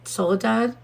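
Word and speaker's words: Soledad: He's in Soul is it solid solidad? I think I'm saying it right. Is it Soul Dad the prison? Solidad. Yeah soul dad.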